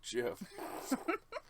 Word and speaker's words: GIF: on his way out just like yeah it's pronounced jiff and it's fine it worked yeah now we're